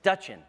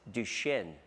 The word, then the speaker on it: Duchenne: So most people don't even know how to pronounce the word Duchenne. They think it's Duchenne. What's Duchenne? So we have to educate these people and explain to them that it's Duchenne muscular dystrophy, and that about 300,000